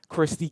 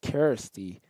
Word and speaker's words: Kisty: in us especially um Christy King having to motivate a 10 man side the down man excuse me I've been pronouncing her name wrong it's kisty king So KY King getting